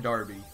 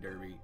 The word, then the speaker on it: Derby: it's like you're from Darby and it smelled like derby like it smelled like the Kentucky Derby obviously derbies pronounced Derby not Darby's you don't call the Kentucky